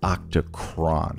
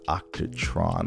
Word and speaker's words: Octachron: real quick oh it's octocron not octatron let me go ahead and octocron I think that's how you spell it let's be sure octocron all right cool octocron not octatron octocron is the name of the app and I just like